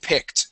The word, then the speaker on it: picked: Okay, that ED ending will make a T sound, picked.